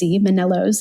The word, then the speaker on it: Manellos: Manellos is how you pronounce it.